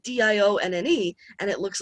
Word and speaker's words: Diane: my aunt is named dion and actually it used to be spelled like diane but the french pronunciation is dion is my family french